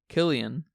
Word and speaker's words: Cillian: How do you say his name? Cillian Murphy. Yeah, they're British. Cillian and Christopher Nolan. So they say Killian.